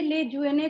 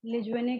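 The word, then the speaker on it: Lejeune: Trisomy of 21st chromosome, तब आपको वहां पे लेज्यूने का नाम लिखना है।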